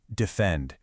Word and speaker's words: defend: The iamb is an unaccented syllable followed by an accented one. Think the word defend. Say it out loud, defend. You hear that rising beat?